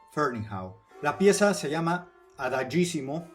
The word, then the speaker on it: Ferneyhough: Y si se preguntan por qué digo Ferneyhough y no Ferneyhough, Ferneyhough o cualquier otra variación, es porque le pregunté personalmente cómo pronunciaba él su nombre y me dijo Ferneyhough.